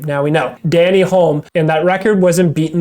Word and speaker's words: Denny Hulme: It's actually funny because in our last podcast, we didn't know how to pronounce that New Zealander's name. Now we know. Danny Hulme, and that record wasn't beaten the following year in 1970.